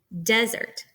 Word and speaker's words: desert: part of the word a trochaic foot is the opposite this is where the stressed uh syllable comes first desert so you can hear